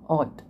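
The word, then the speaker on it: haute: Third आता है आपका क्यूजीन ऑट। स्पेलिंग होती है HUTE, पर इसको बोलते हैं ऑट, क्यूजीन ऑट, या इसको आप बोल सकते हैं फैशनेबल या हाई कुकिंग या हाई कुकरी।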